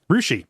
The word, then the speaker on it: Russia: m I might say Russia no you claw Ria Ria rousi yeah yeah all that